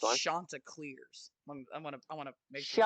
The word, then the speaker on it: Chanticleers: Chanticleers. I want to make sure. Shut your mouth. That's how it's pronounced.